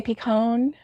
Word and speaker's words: pecan: i was gonna say pecan uh you say picone become yeah pecan yeah yes she does because she's from the north so of you know she's from like the new england area and that's how they say it um okay you're not